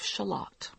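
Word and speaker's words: Shalott: reminded him of the lady of shalat only he pronounced it like the onion Walter told me very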